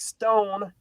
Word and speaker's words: Stown: First of all, we have the great Stown from Vindicator. I'm pronouncing that correctly, right? Yes, perfect. Stone, yes.